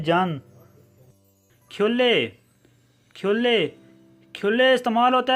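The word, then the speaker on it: 잔: असल में ये लफ्ज़ है छन, लेकिन जब इसे आप प्रोनाउंस करेंगे इसकी सेकंड साउंड प्रोनाउंस करेंगे जन।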